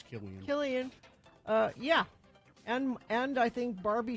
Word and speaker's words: Cillian: I just looked it up to make sure. It's Killian.